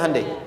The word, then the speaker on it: Hyundai: bikin Honda sini hundai Hyundai kan dibacanya hundai ya kan sana Honda